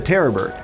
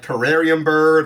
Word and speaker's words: terror bird: the terror bird and i'm not saying it wrong i know a couple people were talking about it like terrarium bird or some other kind of pronunciation it is terrorbird i didn't just make